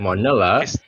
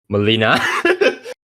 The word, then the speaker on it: Molina: some other um people alfred manila molina i'm sorry if i butchered your name sir alfred molina yeah um then also